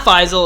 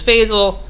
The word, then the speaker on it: Faisal: Is he related to Faisal, which apparently last guy's name was not Faisal, it was Faisal.